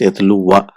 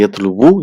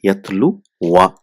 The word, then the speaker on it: يتلو: So it's pronounced yatlu wa. So here we don't say yatlu wu, you just say yatlu in marfu, whereas in mansoob it will be yatlu wa.